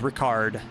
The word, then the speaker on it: Ricard: Lewis Rickard in the Tobbs Esports AMG. I believe that is Ricard. Apologies for saying it wrong there.